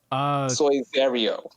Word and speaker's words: Saizeriya: Is that how you pronounce it? ICSOIZERIYO. Saizeriya.